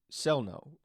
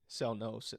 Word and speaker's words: Sellnow: you can find Brian Sellnow. I wanted to make sure I said it. I said it right because Sellnow, not Sell Now, right? Either way, it's a Either way. German name.